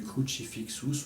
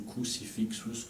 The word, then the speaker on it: Crucifixus: C'est l'air du Crucifixus ou Crucifixus, selon comment on veut le prononcer, de la messe en Si mineur.